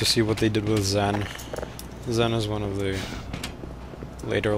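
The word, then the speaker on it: Xen: what they did with Zen is one of the later levels assuming you pronounce it Zen and not sen that would be absurd wait a minute do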